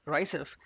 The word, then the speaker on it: RICEFW: what is rice's w rice fw are also written and pronounced as rysef is the most common